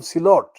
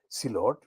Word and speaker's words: Sylhet: are Muslims mainly from Silot. Sylhet is the anglicized spelling, but the Silot phonetically is S for sugar or S for Silot, double E, L for Lima, O, T for Tommy.